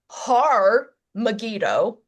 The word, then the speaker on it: Har Megiddo: Armageddon is is a mispronunciation of the Hebrew Har Megiddo with an H, Har meaning mountain, Megiddo being the location, Har Megiddo, which is where the